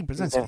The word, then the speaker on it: Brzezinski: Carter had Zabriskie, and also too Obama had Zabriskie too. Am I pronouncing that correctly? Brzezinski, yeah, Brzezinski.